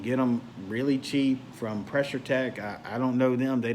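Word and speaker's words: Pressure-Tek: quarter-inch you can get them really cheap from pressure tech I don't know them they don't know me but it's spelled tek pressure tech comm and that's probably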